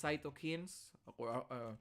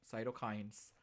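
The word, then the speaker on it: cytokines: Sherwin very good they release cyto kins according to Sherwin but or cyto Kines all right I love I love how Sherwin pronounces it it's very strong it's very cyto kins although it's cyto it doesn't really matter Sherwin it doesn't really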